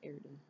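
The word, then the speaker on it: Erdehn: I pronounce her name as, like, Erdahn.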